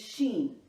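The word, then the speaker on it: שין: evil person the next letter is Sheen the 21st letter of the Hebrew alphabet numerical value is 300 and the sound is shh the shin contains three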